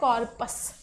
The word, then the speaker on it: corpus: अगला वर्ड है कॉर्पस। अभी हमने एक वर्ड क्या पढ़ा? अभी हमने वर्ड पढ़ा कॉर्प्स, स्पेलिंग देखना बहुत ध्यान से, CORPS।